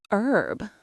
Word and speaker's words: herb: Herb. So if I'm speaking American English, I should skip the H.